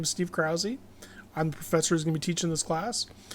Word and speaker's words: Krause: My name is Steve Krause. My family pronounces it Krause instead of Kraus.